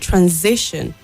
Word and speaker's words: transition: And then the word transition, the S there sounds Z and not S.